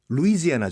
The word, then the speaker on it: 루이지애나: 드릴까 합니다 로 이제 나 의 제나는 미국 발음은 어때요 루이지애나 조 로 이제 나 루이즈의 나 근데 이